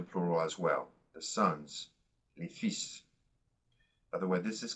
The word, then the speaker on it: fils: The sons, les fils. By the way, this is kind of an odd noun as well in the French language. The L is silent, okay? We don't hear the L. Le fils.